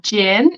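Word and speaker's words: gin: uh then we have Jin it's a kind of alcohol so Jin um pronounce it like you pronounced Jason Jason Jin Jin perfect yeah chin and then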